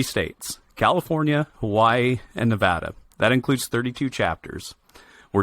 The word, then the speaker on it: Nevada: I'm really happy to be here, and I'm very proud that you pronounced Nevada correctly, because that's something that Nevadans take very personal when it's called Nevada. So thank you for making the correct pronunciation.